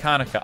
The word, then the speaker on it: Chanukah: okay so it's currently happening then jannika is pronounced hot like hanukkah oh okay so i